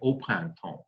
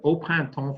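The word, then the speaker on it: au printemps: that we say that the reason we use o for plant is frankly uh it wouldn't sound very good to the french ear if we said it just doesn't flow very well so they say open tone so we have open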